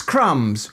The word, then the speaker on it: crumbs: And anyway, it's crumbs without a B. It's never had to B in it It's just those printers